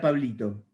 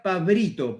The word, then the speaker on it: Pablito: Y para mi gerente japonés también era Pablito. Y él me decía Pabrito, porque no pronuncia la L. Entonces para él era Pabrito.